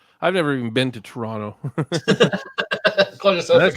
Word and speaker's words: Toronto: So I've never even been to Toronto. That's how we pronounce it here, is Toronto. Okay. We don't say Toronto. We say Toronto. That's Toronto. It's Toronto, eh? That's how we Canadians say it.